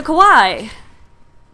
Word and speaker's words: Kawaii: the secretly Kawai so Kawai I am told means cute but it sounds like Hawaii to me or at least the first syllable of Hawaii so I tend to